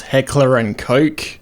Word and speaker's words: Heckler & Koch: For some reason in English it's pronounced Heckler and Koch, and if you're LDT making a Gel Blaster